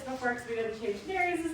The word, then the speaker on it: Nerys: It's spelled Nerys, and every time people ask what their name is, I say, Nere's, like fairies with an N, and then everyone thinks her name is Mary.